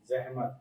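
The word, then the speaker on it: ज़हमत: जहमत करोगे जहमत जहमत पहले तो इसका उच्चारण यह जहमत नहीं है जहमत जहमत गुड जहमत के मानी मतलब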